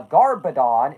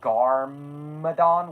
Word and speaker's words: Garmadon: I also love how I very clearly pronounced that as Garmadon with an M and you still got a B out of it.